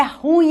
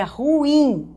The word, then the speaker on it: ruim: Galera, a pronúncia dessa palavra é ruim, não é ruim, tá? Eu sei que no popular a gente ouve ruim, mas esta não é uma palavra de dupla prosódia. A única prosódia dessa palavra é ruim.